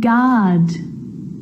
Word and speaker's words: guard: Words like guitar and guilty and tongue and guard, colleague, guess. It's also not usually pronounced in adverbs like beautifully, wonderfully.